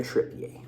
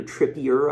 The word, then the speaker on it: Trippier: and what's been reported karen trippier could be trippier or trippier i believe it's trippier for you people out